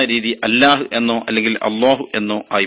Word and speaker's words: الله: അങ്ങനെയാണ് അൽ ഇലാഹ് എന്നതിലെ ഈ പോയപ്പോ അൽ ലാഹ് എന്ന് ആവുകയും അത് പിന്നീട് അല്ലാഹ് എന്നാവുകയും അപ്പൊ അതിന്റെ യഥാർത്ഥ ഉച്ചാരണ രീതി അല്ലാഹ് എന്നോ അല്ലെങ്കിൽ അല്ലാഹു എന്നോ ആയി മാറുകയും ചെയ്തു.